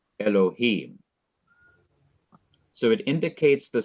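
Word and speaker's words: אלהים: In each of these three words in the beginning of the Bible, the last syllable of each word is to be stressed. Bereshith, bara, Elohim.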